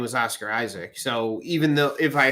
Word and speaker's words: Isaac: His name is Oscar Isaac. That's how it's pronounced. Isaac.